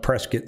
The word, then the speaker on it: Prescott: you're not from here it's pronounced prescott like biscuit uh cave creek paradise